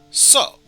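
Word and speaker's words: そ: up a single syllable you pronounce this one as so so basically the same thing as uh sewing some clothing that you want to mend up or reaping what you sew so but yes let's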